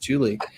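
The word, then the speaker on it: July: Welcome, Julie. I'm doing my very best to remember that Julie, which is spelled J-U-L-Y in this case, is pronounced Julie.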